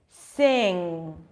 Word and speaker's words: sing: your mouth so it's not sing get it's sing sing and then you don't need to add